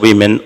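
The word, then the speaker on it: women: উমমে এর বহুবচন হচ্ছে উইমেন। উচ্চারণটা উইমেন হয়।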